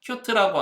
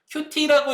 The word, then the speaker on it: Qt: Qt라고 하는 프레임워크. Qt라고 읽으셔도 되고 Qt라고 읽으셔도 돼요.